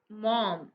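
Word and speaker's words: Maugham: मॉम इस दी अथर यह spelling है वह लिखा हुआ maza-5 एंव गम इस तरीके से है लेकिन इसका वर्णन प्रनंसीएशन जो है वह ऐसे करते हैं मॉम विलियम समरसेट मोर चिक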